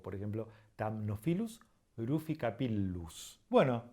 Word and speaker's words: Thamnophilus ruficapillus: Para terminar, cuando tenemos una doble consonante, como por ejemplo la doble L, no es una letra distinta, es simplemente una letra que se estira un poco. Por ejemplo, Thamnophilus ruficapillus.